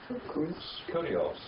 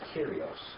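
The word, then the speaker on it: κύριος: This is Lord. How would you say that? Huh? Kurios. But that's not the way it is. It's Kyrios. All right?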